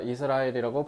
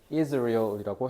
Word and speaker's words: Israel: 자, 이스라엘이라고 발음하면 미국 애들 못 알아듣고요. Israel이라고 해야 돼요.